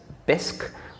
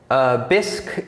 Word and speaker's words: Bisq: in fact it already exists one example is bisque which is spelt b-i-s-q and bisque is a decentralized exchange that runs a peer-to-peer